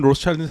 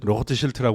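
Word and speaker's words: Rothschild: 영어 발음은 로스차일드인데 사실 로트 쉴트라고 그래야 되는데 빨간 방패.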